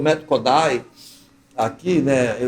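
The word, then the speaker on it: Kodály: que implantou o método Kodai, aqui, né? Eu falo Kodai, porque essa é a pronúncia, húngara. E ele falava Kodai. Quando eu falo Kodali, parece que não...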